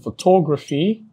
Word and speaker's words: photography: Now if the word ends with the suffix, and what's the suffix? PHY is the suffix, then the main or primary stress falls on antepenultimate syllable, that's third to the last syllable.